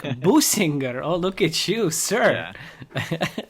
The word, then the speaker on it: Bussinger: Yeah, everybody gets it wrong. So you say it like Bussinger.